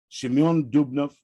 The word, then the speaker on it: Shimon Dubnov: Writing about the events of that time in 1918, Shimon Dubnov, the way Americans say it, one of the most